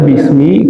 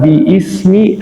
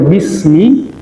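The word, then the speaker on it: بسم: Nah, kenapa dibaca bismi? Karena ada apa? Ee penghapusan dari hamzah wasalnya. Kenapa dihapus? Karena agar mudah membacanya. Jadi, kalau dibaca biismi, nah itu agak susah ya. Tapi kalau kita baca bismi, nah ini meringankan siapa? pembaca ya.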